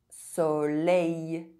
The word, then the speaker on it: soleil: EIL and EILL are pronounced A. Soleil.